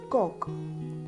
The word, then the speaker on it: kok: Here, kok sounds like coke, C-O-K-E, coke, but with a short O sound as in pot. We will look the breakdown of the pronunciation. K is a strong K sound. O is like short O sound in as in hot. At the end, K is clearly pronounced. So altogether it can be pronounced as coke.